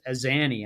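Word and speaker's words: Azzanni: Zach as Azani, I believe is how you pronounce his last Mhm.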